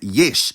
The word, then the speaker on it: ieși: It's spelled exactly the same as the infinitive, but it's pronounced yesh, not yeshi.